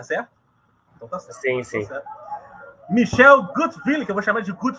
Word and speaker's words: Gutwilen: Michel Gutwillen, que eu vou chamar de Gutwillen, porque eu não sei pronunciar o nome dele, então vai ser Gutwillen. É, Willen, mas você chame do jeito que você quiser.